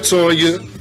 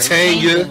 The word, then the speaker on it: Tanya: What's up, Tonya? It's Tanya, man. Tanya.